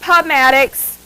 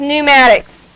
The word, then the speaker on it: pneumatics: pneumatics uses a gas that p is silent it's not pubmatics it is pneumatics that's a gas so